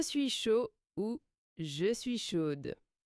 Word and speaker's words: chaude: "Ah ouais, je suis chaude." Ça montre direct ton envie, ton énergie. Hm hm. C'est très direct. Oui. Et attention à la prononciation au féminin, le dé Oui.